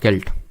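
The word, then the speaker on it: celt: इज a sailed और केल्ट। तो actual में सेल्ट इसको प्रोनाउंस करेंगे तो ये एक तरह का क्या होगा, टोम होगा, हाउस होगा, टूल होगा, फिर अर्न होगा।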